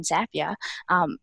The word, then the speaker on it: Zapier: use every day and they like to say that zapier rhymes with happier and we think that